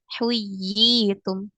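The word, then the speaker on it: حُيِّيتُمْ: Huyi, ini dibacanya seperti mad tabi'i, ya, seperti mad asli. Huyitum, huyitum.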